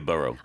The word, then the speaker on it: borough: buroughs we don't talk about the burrow of kangnam for example we normally talk about kangnam District but it means the same thing b o r o u g h however in some American pronunciations you will hear burrow complaints about bed bucks